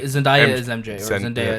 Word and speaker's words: Zendaya: She's like Zendaya is MJ or Zen- Zendaya is MJ. Zendaya. Yeah. How did Zendaya, What eh? did you call her? Zendania. I called her Zendaya.